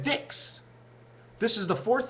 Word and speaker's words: dix: two of a kind in French they say the word 10 as dis but it looks like a Dix this is the fourth